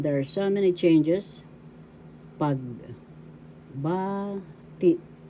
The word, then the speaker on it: pagbati: Pag, ba, ti. First syllable pag, second syllable ba, third syllable ti. The second syllable has the accent pagbati.